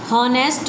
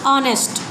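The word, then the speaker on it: honest: पढ़ेंगे यह ध्यान रखेंगे होनेस्ट नहीं है इसे पढेंगे हम ऑनेस्ट क्योंकि एक हमारा साइलेंट है और वह का साधन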